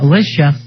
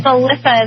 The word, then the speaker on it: Alyssa: friend uh fuzzy uh Alicia Alicia how you doing honey hello guys hey babies how you doing I know you pronounced my name wrong oh I'm sorry it's Alyssa is in Alyssa Milan no I'm sorry I